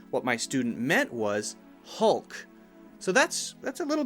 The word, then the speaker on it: Hulk: mouth changes ah ah but when I say hull hull hull my mouth is a little bit more narrow and I'm not moving my mouth at all it's totally still and pretty relaxed so Hulk Hulk Hulk and I'm actually bringing my tongue up behind my teeth Hulk Hulk Hulk the Hulk dr.